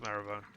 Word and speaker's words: Marylebone: There's a station on the London Underground called Marylebone, sometimes pronounced Marrowbone.